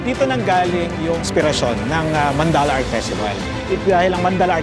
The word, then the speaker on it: Mandala: So ang Mandala uh actually 'yun ang pronunciation eh Mandala.